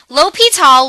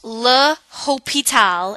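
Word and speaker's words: L'Hôpital: are gonna learn about something called l'hopital's rule l'hopital was a guy but it's also the French word for hospital which will come up later it's not pronounced la hope it'll it's pronounced as l'hopital and this is a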